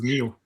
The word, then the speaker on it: Neo: It's n e o, right? Neo. Like in Matrix. It depends in your country. Some people say Neo, others Nao.